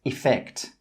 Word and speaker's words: effect: Please note that with some accents 'effect' with an E has an /ɪ/ sound at the start. So this word would be pronounced as 'effect'.